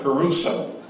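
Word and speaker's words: kerusso: Now the word preaching, it means caruso, which is spelled K-E-R-U-S-S-O, caruso.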